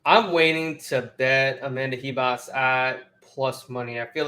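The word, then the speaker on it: Ribas: up Tracy Cortez Amanda it's he boss right it's not reeboss the r is silent so Amanda hebos uh and this is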